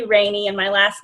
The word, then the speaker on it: Rayne: reintroduce myself you know it looks like rain right because why else would you pronounce my name any other way but it's actually rainy and my last name